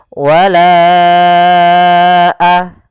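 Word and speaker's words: وَلَا أَنَا: Maka kita panjangkan huruf lanya sepanjang 4 harakat atau lima harakat. Bagaimana cara membacanya? Wala a baru baca a. Panjangkan lanya dulu empat harakat baru lepas.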